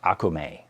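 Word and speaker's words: okoume: But the correct way to pronounce it is Akume. It has a Akume neck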